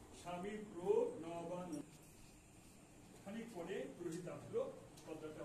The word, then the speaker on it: স্বামী প্রণবানন্দ: অনেকে শিক্ষিত লোকে এটা ভালো করে উচ্চারণ করতে পারে না, প্রোর পরে ন হবে, তাহলে উচ্চারণটা ভালো হবে। স্বামী প্রণবানন্দ, অনেকে অনেক নামটা উচ্চারণ হয় না। স্বামী প্রণবানন্দ।